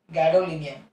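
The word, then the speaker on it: gadolinium: उसके बाद दो है, एक है गैडोलिनियम, उसके उसका थोड़ा सा प्रोनाउंसिएशन ये है इसको गैडोलिनियम, और भी एक है, वो है डाइस्प्रोजियम और डिस्प्रोजियम।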